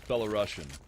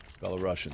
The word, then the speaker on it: Belarusian: be at a 1-round deficit now to the Belarusian side. So somebody said it's the same as you spell Russian, just add Bella, so it's Belarusian. Belarusian.